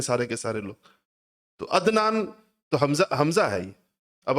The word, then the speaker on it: عدنان: ہم تلفظ نہیں کرتے۔ مثلا میرا نام عدنان ہے، لیکن آپ میں سے کوئی بھی مجھے عدنان نہیں کہے گا، عدنان کہیں گے، حمزہ سے کہتے ہیں سارے کے سارے لوگ، تو عدنان تو حمزہ ہے یہ۔